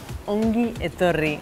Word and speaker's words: Ongi etorri: Ongi etorri.